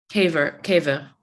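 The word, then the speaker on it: קבר: And I forgot which kavar, how do you pronounce it? Like, what's the Hebrew word for burial site? Caver.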